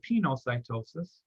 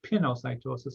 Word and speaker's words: pinocytosis: called cell drinking or pinocytosis or pinocytosis some people pronounce it so here of